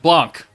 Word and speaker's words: Blanc: video and primordial white Blan blond blond however you want to say it in French Blanc with a c with a hard c on it is now in the